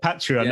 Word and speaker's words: Patreon: this is patreon i was wondering how you pronounce it uh patreon and this is six quid a month at